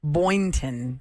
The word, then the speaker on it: Boynton: Boynton is how you say her name.